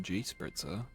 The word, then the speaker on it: Gespritzer: And anyway, it's popular out there and it's used alongside the equally common form Gespritzer, mostly pronounced G-spritzer, a noun derived from the past principle of spritzen, i.e.